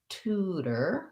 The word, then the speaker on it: tutor: And in that word, we have tutor, where we would use a flap T because it's between two vowels and followed by an unstressed syllable. So that sounds like tutor with an oo vowel, tutor. But tutorial changes the syllable